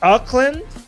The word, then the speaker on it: Auckland: Um Auckland. Did I pronounce it right? New Zealand. Auckland. Aland New Zealand. Yeah. Auckland, New Zealand.